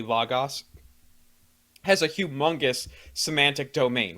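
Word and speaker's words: λόγος: And for anyone who knows Greek knows logos, which is how you would pronounce it classically, logos, has a humongous semantic domain, which means it could mean a billion different things.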